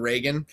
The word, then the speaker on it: Regan: And I've heard it pronounced both Regan and Reagan. I think it's actually Regan because it's English, it's British. But I think sometimes we call her Reagan because we had Ronald Reagan, right?